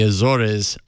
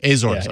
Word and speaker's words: Azores: Miguel Island in the Azura's Portugal I spotted these in a seasonal was it hazers Azores thank you I knew I was